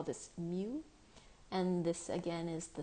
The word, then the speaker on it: mu: so this is pronounced mu or like what a cat might say mu so that is how